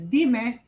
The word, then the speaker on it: dime: The way I pronounce that is dime, even though I tagged on a vowel. It obeys the rule. I don't need an accent mark there.